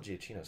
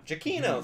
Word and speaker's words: Giacchino: Michael Giacchino's score, I was saying that last name correct, right? Michael Giacchino. Giacchino, thank you.